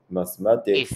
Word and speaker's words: mathematics: in the word mathematics the accent in the word mathematics mathematics is on the thir third syllable oh third syllable very